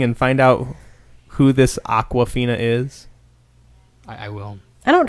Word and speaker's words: Awkwafina: But Aquafina is AWKWAFINA. I mean, that's pretty. I mean, to me, that says Aquafina. Yeah. Yep. You want to Google that spelling and find out who this Aquafina is?